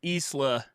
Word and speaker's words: Isla: It's pronounced like the word isle.